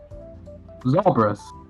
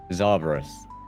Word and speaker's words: Zarbrus: Zarbrus. Zarbrus. It's like Cerberus, but with a Z and an A. Okay, Zarbrus.